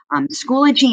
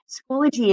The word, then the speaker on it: Schoology: be your friends so schoology is pronounced the way you see there in the key it's not schoology like so many people originally think but i wanted to